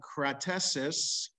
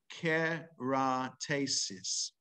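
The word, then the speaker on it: קרטסים: so the mishnah teaches and kratesis uh or if we pronounce it the way the vowels are here ke ra tasis so keratasis and the day of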